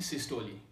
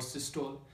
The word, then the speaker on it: systole: है डायस्टोली, दूसरा है सिस्टोली। तो बहुत सारे इनको पढ़ते हैं डायस्टोल और सिस्टोल। अगर हम इसकी जो एक्चुअल जो प्रोनाउंसिएशन चेक किया जाए तो इसकी डायस्टोली है और इसकी क्या है, सिस्टोली।